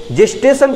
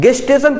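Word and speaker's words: gestation: इसी 9 मंथ को हम लोग बोलते हैं जेस्टेशन पीरियड। बहुत सारे लोग इसका प्रोनाउंसिएशन करते हैं गेस्टेशन पीरियड। तो चाहे गेस्टेशन पीरियड कहिए चाहे जेस्टेशन पीरियड कहिए, वो यही होता है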